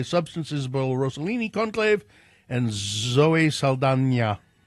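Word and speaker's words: Zoe Saldaña: Isabel rosolini conclave and Zoe Sala which is the way you're supposed to pronounce it now oh is it s s she didn't she never used to put the will squiggle over the N but now she but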